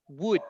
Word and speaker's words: would: kiss with wood right the position of your lips goes together like wood not good good and wood so